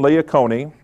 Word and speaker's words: Leocone: And this wonderful woman, Madeline Leocone, and that's how you pronounce her last name, is a youth minister.